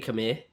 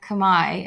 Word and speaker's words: Khmer: Khmer is how you pronounce it in Cambodian. Actually, it's how you pronounce it in Khmer. You say Khmer.